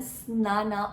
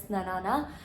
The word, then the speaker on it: Snaana: Just mentioned in the description, and the starting is none other than Snana, or you can pronounce it as Snanana. The spelling says that Snaana.